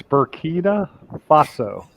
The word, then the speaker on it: Burkina Faso: It's Burkina Faso. Bernanke Fasco.